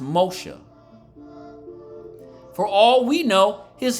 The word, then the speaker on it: Moshe: So that's why Moses' mother called him Moses, or it would have been pronounced Moshe.